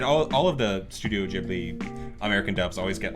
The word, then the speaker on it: Ghibli: pronounce it because okay it's both ways in Japanese they say I knew it I knew in Japanese it was going to be one way in Japanese they say jiburi but it's based on